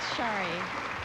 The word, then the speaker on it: Sari: Shari. Shari, S-A-R-I, and still pronounced Shari.